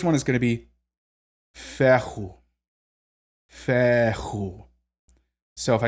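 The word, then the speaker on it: Fehu: rune the first one is going to be Fair who so if I say that quickly it's just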